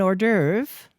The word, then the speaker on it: hors d'oeuvre: interest you in an hors d'oeuvre or derv what's that an appetizer or starter before your soup hors d'oeuvre is also a French word but English speakers have changed the pronunciation in French it sounds